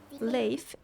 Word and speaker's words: Leif: Leif or Leif, I don't really know how to pronounce his name. Leif is a very common name in Sweden, so I will say Leif.